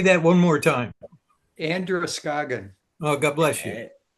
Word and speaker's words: Androscoggin: And that is Androscoggin.